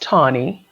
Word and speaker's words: Tawni: Well, my name is pronounced Tawny. It's kind of easy. It's in the dictionary as the color brown. It doesn't look easy, but it's actually easy to pronounce.